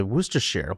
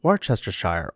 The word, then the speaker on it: Worcestershire: Cho dù bạn phát âm nó là Woostesheer, war chester shire hay war sta sheer, thì loại nước sốt